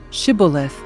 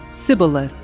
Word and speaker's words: shibboleth: If the man said, "No, I am not," they would tell him to say, "Shibboleth." If he was from Ephraim, he would say, "Sibboleth," because people from Ephraim cannot pronounce the word correctly.